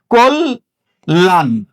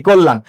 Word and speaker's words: কল্যাণ: তাহলে কি হবে? কোল। লয়ের সাথে জফলা না, যখনই বৃত্ত উচ্চারণ হবে, কোল লান, কোল লান। লক্ষ্য করো, এখানে এই লয়ের সাথে স্বরচিহ্ন উচ্চারিত হয় না, এই জন্য হর্ষন্ত দিয়েছি। এই নয়ের সাথে স্বরচিহ্ন নাই, এই জন্য হর্ষন্ত দিয়েছি, কল্যাণ।